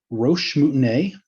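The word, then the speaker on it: roche moutonnée: everyday lives today same idea right so these roche mutinae is how that's pronounced are names of these small hills you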